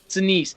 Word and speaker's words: Sinise: Sinise.